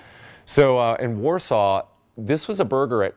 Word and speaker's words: Warsaw: So we pronounce it Warsaw. I don't know why. It's nothing like they pronounce it in Warsaw.